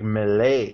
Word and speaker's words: melee: they're just like connection I like how Dave does like the French pronunciation like Malay malay what do you guys to base my mail a melee or melee I say mail us